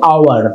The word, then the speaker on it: hour: তো অথেল এই কথাটা বলার উদ্দেশ্য হচ্ছে এইচ এর উচ্চারণ কিন্তু অ্যাকচুয়ালি এইচ এর মতন হচ্ছে না। দেখো আমরা এইচ এর উচ্চারণটা কি করছি, হাউস, ঠিক আছে। আর এখানে বললাম আওয়ার, দেখো হাউস বানান এইচ ও ইউএসই, আওয়ার বানান এইচ ও ইউআর।